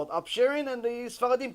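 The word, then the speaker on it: upsherin: And she says, listen, I want you to do the chalake, the upsharing, it's called in upsharing. Am I pronouncing it right?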